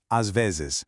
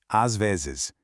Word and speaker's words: às vezes: às vezes. It's technically two distinct words, but they really flow together as one single thought. às vezes.